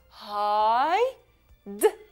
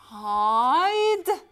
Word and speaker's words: hide: H, I, H, و I, hide, hide. فإذن, hide.